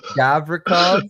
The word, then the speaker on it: Gavrikov: Yo, why you guys keep giving me the teams with all the ridiculous Gavrikov, I think that's how you say it.